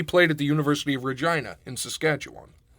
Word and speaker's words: Regina: at the University of Regina in Saskatchewan which everybody's gonna pronounce wrong of course oh yeah because people are dumb it's not Uranus guys no it's still funny